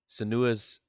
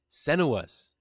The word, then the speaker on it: Senua: So, without further ado, guys, part 2, Senua's. I said it wrong again. Senua's Saga, Hellblade 2.